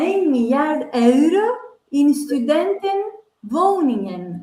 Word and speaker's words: euro: Euro, you said. Yeah, euro. Euro. It's mostly like euro.